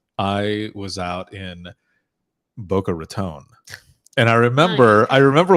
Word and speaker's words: Boca Raton: said because it's not rattan right and he goes don't you ever say Boca Raton because it's not rattan it's Raton yeah like Raton look I got it